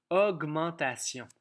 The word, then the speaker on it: augmentation: Dans la course des O, le son O va s'écrire AU. C'est lui qui gagne la course au début des mots. Donc, c'est important. Là, souvent, dans les mots qui commencent par le son O, ça s'écrit AU. On a un G dur puisqu'il n'est pas devant un E, un I ou un Y.